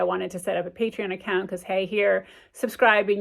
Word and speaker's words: Patreon: it's a patreon account p-a-t-r-e-o-n I do not pronounce that right patreon patreon there you go patreon account um it's